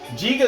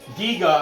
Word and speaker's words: Giga: know what i'm saying jiga though giga i'm sorry i keep saying g saying soft g but giga has those